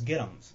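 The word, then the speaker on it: get 'ems: The correct way to pronounce it is get-ems.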